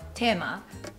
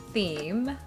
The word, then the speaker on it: theme: yeah oh yeah interesting so english pronunciation of tema is theme theme theme so let's go to